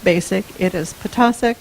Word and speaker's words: Ptacek: in the process like most importantly how to pronounce mr. name it is not mr. like basic it is picasa like taco that's one of the first things